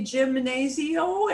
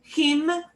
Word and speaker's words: gimnasio: you to say because you want to say gymnasio, and it is not that. It is, and we have to split it into smaller words, or smaller syllables rather. Gimnasio.